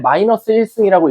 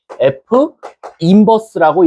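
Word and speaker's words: f⁻¹: 그거를 기호로 어떻게 쓰냐면 절대 -1승이라고 읽지 마세요. 얘는 f인버스라고 읽습니다.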